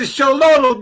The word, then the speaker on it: Xolo: The ancient Egyptian god Anubis is a Shololo dog. A Shololo dog? A Sholo dog. It's Xoli, Sholo Quinsley. See, I'm not really good with the quiche language, okay? But the Sholo is spelled Xolo.